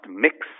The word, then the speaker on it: Mx: this trend happening um so MX pronounced mix um is going to